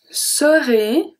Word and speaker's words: serai: Je serai, AI, like I said, make the sound E.